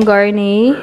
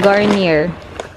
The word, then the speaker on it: Garnier: ita-try ko na Ong garne Garnier ano yung pagpronounce Garnier di ba Daddy garne Ay naku Garnier Garnier daw Ayan ita-try ko to